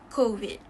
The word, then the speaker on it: COVID: mispronounced word is covet as we all know the correct pronunciation is kovit how would you want to pronounce it is that ko is your tongue is at its usual spot and then you will need to open your mouth slightly and form an o with your mouth which will also form an o sound it will also release